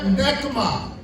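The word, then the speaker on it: Nechama: لیے جو لفظ یوز ہوا ہے وہ ہے نیکما، وہ ہے نیکما۔ اس کے لیے سپیلنگ ہے N-E-C-H-A-M-A، نیکما عبرانی زبان میں۔ کنسولیشن،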